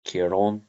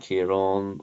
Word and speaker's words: Ciarán: So Tomás and Ciarán are southern pronunciations. Thomas and Ciarán are northern pronunciations. It's a feature of Northern Irish that we don't put sort of emphasis on this second, or sorry, this final syllable.